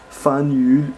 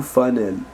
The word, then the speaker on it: Faneuil: Ne vous fiez pas à l'orthographe française trompeuse. Le nom se prononce Fanul ou Fanel. Une erreur de prononciation vous trahirait comme étranger mais également comme non